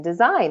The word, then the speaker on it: design: is not being pronounced in design that G is not being pronounced but in signal it